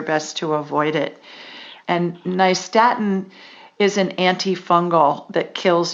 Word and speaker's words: nystatin: to avoid it and nystatin is an antifungal that kills yeast on contact and it's spelled n-y-s-t a-t-i-n like new york and staten island so i hope i